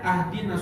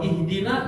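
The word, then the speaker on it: اهدنا: Seperti membaca Al-Quran, baca Al-Fatihah saja, misalnya ada yang membacanya ahdinas siratal mustaqim. Ahdinas siratal mustaqim itu udah beda banget artinya. Ahdina artinya ya Allah kasih saya hadiah. Kalau ihdina ya Allah berikan saya hidayah.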